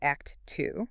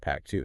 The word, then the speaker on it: Actiu: So one brand that stands out for its commitment to sustainability and innovation is Actu, and it's actually pronounced Act 2. Okay, Act 2.